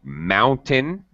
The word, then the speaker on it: mountain: nature very good uh mountain mountain okay much better uh reduce pronunciation on the second syllable not mountain that's a very common mistake for second language mountain yeah uh and